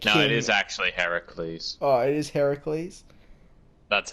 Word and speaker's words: Heracles: Octopus keeps saying it's Heracles, and then the spirit's the spirit says, I think it's pronounced Hercules, but the spirit's actually wrong.